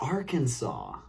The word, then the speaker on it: Arkansas: ends with an s Arkansas right because it's silent s uh okay is that